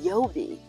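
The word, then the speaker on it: Yeobie: The Oberlin mascot is called the Yobi, and I will spell that for you.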